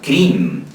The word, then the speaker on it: Krim: Y bueno, y a la hora de comer, el maestro aconseja pronunciar el mantra Krim, K-R-I-M, Krim, K-R-I-M, Krim.